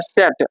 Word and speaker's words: Z: Z को हम लोग जेड पढ़ते हैं। लेकिन वो पढ़ता है सेट। हल्का सा ट का उच्चारण भी आएगा।